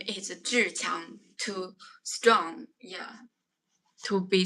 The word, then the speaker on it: Zhiqiang: Around this time, I would like to introduce I'm reading book to Chinese pronunciation is Zhiqiang, z h i q i a n g, Zhiqiang.